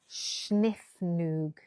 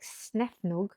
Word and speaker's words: snefnug: Right, I think it's pronounced in a sort of Schniffnug, according to my Danish friend. Oh, thank you, Susan. That's even better. I really like Snefnug, but I prefer Schniffnug.